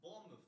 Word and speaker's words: Bournemouth: Bournemouth. Wie? Bournemouth. Bournemouth. Wie schreibt man? B-O-U-R. Ja, Bournemouth quasi geschrieben.